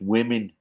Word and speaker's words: women: you got wrong like you said um woman but it's not woman it's women women women yeah women it felt the same